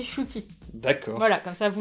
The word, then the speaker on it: Ncuti: Ncuti Gatwa, qui s'écrit... Ncuti, mais ça se dit Ncuti.